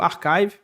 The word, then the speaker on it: arXiv: E aí uma coisa interessante que aconteceu também desses artigos da Beatriz foi o seguinte: existe o Archive, se escreve com X, Arxiv, né? Se eu fosse soletrar, ARXIV.